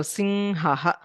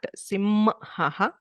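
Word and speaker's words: सिंह: So sing haha. So it's very light, not sim haha, not sin haha, sing si haha.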